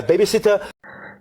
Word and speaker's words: babysitter: babysitter my babysitter sitter and not pronounce this T, and because this T is flap T, yeah, so that's why this T is not pronounced in this word.